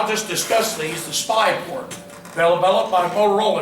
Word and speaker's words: SPI: Some peripherals are called SPI, and SPI is pronounced SPI.